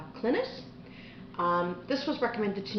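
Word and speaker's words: Clines: paradox bound by Peter I think it's pronounced clintus um this was recommended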